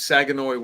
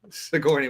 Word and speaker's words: Sigourney: Um who is Sagenoi Weaver. Sigourney Weaver.